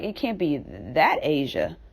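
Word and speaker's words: Asiha: So I was just scrolling and scrolling and scrolling, and I saw Rest in Peace, Asia.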